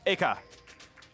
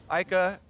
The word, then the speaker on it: Eika: French, everything is very flat. So you say A as hard as you say Ka, and that's how you pronounce the screen name. Yeah. Eika.